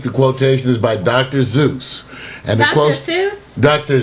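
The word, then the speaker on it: Seuss: probably because he's so Americanized it's always been pronounced Dr Zeus I know it's weird it's weird Dr Zeus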